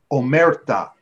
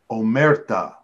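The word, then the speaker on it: omertà: passing yellow passing oh okay sorry Mike the pronunciations are it is omerta omerta the rule of silence my people know this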